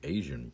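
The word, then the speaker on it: Aysen: bureaucrats asin asian and it sounds like asian i don't see how another way to pronounce that is a y a-y-s-e-n anyways so that's from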